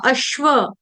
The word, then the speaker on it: अश्व: वाला है शरबत वाला लेकिन आधा अश्व अश्व अश्व इसको अस नहीं पढ़ेंगे या अश्व नहीं पढ़ेंगे ये गलत उच्चारण स नहीं आएगा तो क्या आएगा श्व श्व अश्व अश्व व पूर्ण ठीक है